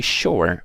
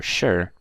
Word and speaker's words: sure: But su does not always mean a sh. So I can say the word sue, right, to sue someone, sue, right? That's not a sh. But if I say sure or sure, it's pronounced as sh, okay?